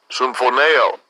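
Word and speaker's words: symphōneō: Get the pronunciation in the Greek. Strong's G 4856. Symphoneo.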